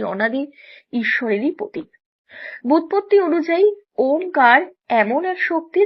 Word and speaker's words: ওম: ওম। সনাতন ধর্মের সবচেয়ে বহুল ব্যবহৃত শব্দগুলোর মধ্যে অন্যতম হচ্ছে ওম। অনেকে এটিকে ওম উচ্চারণ করলেও চিহ্নটির প্রকৃত উচ্চারণ হচ্ছে ওম।